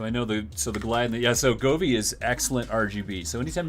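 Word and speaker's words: Govee: Goovdo or Goovy, however the hell I don't even know. How do you say that? Govy.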